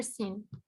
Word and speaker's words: scene: Yeah, the nature scene. Recommendation. Yeah, but please, you have to read the sentence first of all. Okay. Okay. Nature. Nature, teacher. Nature. Yeah. Skin. Scene, the C is silent here.